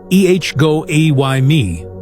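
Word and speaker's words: ἐγώ εἰμι: That phrase is ego amy pronounced ehgo a y me.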